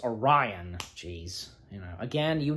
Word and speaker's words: Orion: I mispronounced the name not uh or on it's Orion jeez you know again